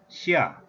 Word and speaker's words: 下: Ha is the pronunciation of this character in Korean language, and Chinese pronunciation is xia, xia, having tone number 4 value.